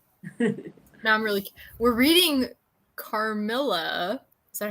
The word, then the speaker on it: Carmilla: We're reading Carmilla.